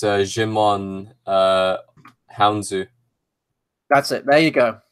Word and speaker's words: Djimon Hounsou: of the galaxy yeah I would say it's Djimon Hounsou that's it there you go there you go